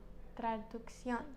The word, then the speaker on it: traducción: Traducción. Traducción. And it's Traduccion with the accent on the end.